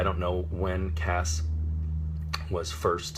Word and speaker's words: Cass: pronunciation they expelled at see a SS which is hard C followed by the vowel and consonant cluster that makes the sound s so Cass as opposed to see